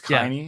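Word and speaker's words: Kaine: This one has, it's spelled like Kane, but it's Kaini.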